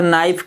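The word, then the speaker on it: knife: हैं जैसे बताया था नाइफ नाइफ लाइफ में केक को क्यों नहीं पढ़ते के साइलेंट है तो क्यों साइलेंट है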